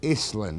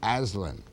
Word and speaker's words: Aislin: guy called Terry Mosher who pronounces his name Iceland not Aslan and he's not a